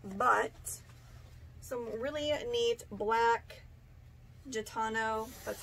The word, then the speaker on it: Gitano: And then I got some, ooh, these need wash, they're kind of dusty, but some really neat black Gitano, that's how you say it, tapered leg jeans.